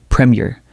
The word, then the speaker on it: Premier: Premier. Again, premier. Notice how the first syllable carries the stress and the second syllable is lighter.